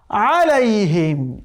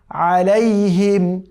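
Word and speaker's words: عَلَيْهِمْ: সিরাতাল্লাযীনা আনআমতা আলাইহিম। আলাইহিমকে অনেকে পড়ে আলাইহিম, আলাইহিম পড়া যাবে না। আইনের উচ্চারণ এই কণ্ঠনালীর যে মধ্যভাগ আছে সেখান থেকে উচ্চারণ করতে হবে আলাইহিম।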